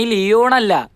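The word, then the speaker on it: Leone: അയ്യോ, Sunny ലിയോണല്ല, Sunny ലിയോണി. ലിയോണി അതാണ് correct ഉച്ചാരണം.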